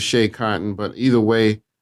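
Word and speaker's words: Schea Cotton: Also, my man King Crooked got a song called Shea Cotton. I believe that's how you pronounce it. It's SCHEA. I believe it's Shea Cotton.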